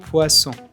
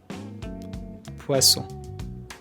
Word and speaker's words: poisson: The double S is also pronounced as S. For example, poisson, poisson.